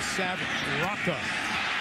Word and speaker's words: Rocca: We've heard it pronounced Roca. He corrected it this week, says Sav Rocca.